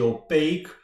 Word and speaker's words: opaque: tokens by the way someone told me that I wasn't pronouncing it right and I I wasn't indeed I was pronouncing it more like French or pack tokens but it's actually opaque meaning non-transparent okay so